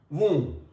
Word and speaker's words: womb: B is underlined, it means that we are not here pronouncing B sound. It is tomb, it is womb.